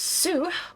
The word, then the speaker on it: S: The S, or Zu tribe, pronounced Soo, are mostly found in La Noscea, several of them serving in the Maelstrom.